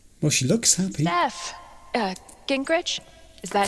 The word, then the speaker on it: Gingrich: there you are well she looks happy SE Gingrich is that how you say it yeah that's